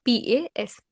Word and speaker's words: pas: Ne, then verb, then pas, P-A-S, pas. We do not pronounce the last consonant in French, so I am pronouncing it as pas, P-A-S.